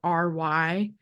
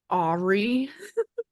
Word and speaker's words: awry: And so when I was a kid, I thought the word Awry was Aubrey. I didn't know it was awry.